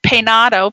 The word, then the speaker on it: Peinado: I hope this is pronounced right. Peinado, P-E-Y-N-A-D-O.